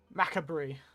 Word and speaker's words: macabre: Macabre. That's how it is.